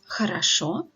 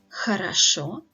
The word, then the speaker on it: хорошо: So in the words хорошо и молоко, so both of these words have 3 syllables, and the stress is on the last syllable, on the last O, so that all the previous O's are pronounced as wide A's.